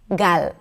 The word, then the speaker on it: Gal: However, in Hebrew, we don't have that. It's a very simple, clear L where you bring the tip of the tongue up and that's about it. 'La', 'La', 'Gal', 'Gal'. So it sounds a little lighter and a little shorter: 'Gal' - 'Gal', 'Gal' 'Gal' .